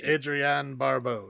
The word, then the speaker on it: Adrienne Barbeau: I'm sure that's how you say her name. Yes, Adrienne Barbeau is Adrienne Barbeau, who was married to John Carpenter at this point in time, I believe.